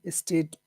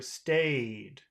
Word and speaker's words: stayed: again C resilient and state positive okay is it state or stayed stayed that's important St if you want